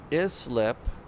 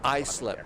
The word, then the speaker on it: Islip: Islip, not Islip. I just see the I in there, and I just mispronounce it. It's Islip, not Islip.